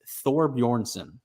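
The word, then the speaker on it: Thorbjornsson: name for me yeah it's thor bjornsson michael thornbornson bjorn with the uh silent j there so it's a it's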